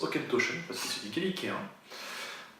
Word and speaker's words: Auchentoshan: Donc Aukentoschen. Alors oui, il se prononce Aukentoschen parce que c'est du Gaélicien, et non pas Aukentoschen, comme beaucoup de gens s'amusent à le dire.